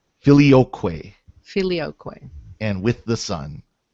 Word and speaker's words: Filioque: how's it pronounced? Filioque.